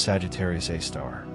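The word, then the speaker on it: Sagittarius A*: Its name is Sagittarius A star written in scientific notation as Sagittarius Asterisk and pronounced Sagittarius A star.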